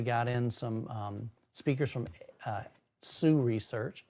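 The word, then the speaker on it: Hsu Research: I recently got in some speakers from Sioux Research. HSU is the way it's spelled, but it's pronounced Sioux Research.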